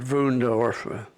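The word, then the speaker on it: Wünsdorf: And then they shipped a dozen of us out to a work camp at Wunsdorf, WUEND, at ORF, but they pronounced it Wundorf.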